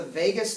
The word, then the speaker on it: vagus: stem it's called the vagus nerve okay now it is not spelled like Las Vegas it's v-a-g-u-s okay your vagus nerve